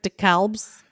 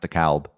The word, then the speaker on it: DeKalb: Oh, all the different DeKalbs? Yeah, up here it's pronounced DeKalb. Yeah. The L is pronounced down there. They've just dropped the L.